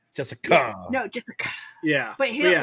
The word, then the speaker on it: Jessica: because I call you Jessica. Yeah, and I don't. I mean, that's my name. I don't land the hard C though. Jessica.